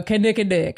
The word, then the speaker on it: Kinnikinnick: Kinnikinnick. All right. Well, I think I said it right. So You did. Kinnikinnick, there it is.